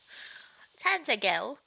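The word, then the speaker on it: Tantegel: It's pronounced tantel in my mind. I was reading it like tantel. Tantagel.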